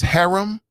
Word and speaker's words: harem: part of his hareem his harem however you want to pronounce it i say hareem cool you know you